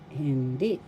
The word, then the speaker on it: hindi: indefinite article in English hindi first syllable hin second syllable the second syllable is the accent so you pronounce this as hindi hindi tiyak tiyak first syllable second syllable The second syllabas accent.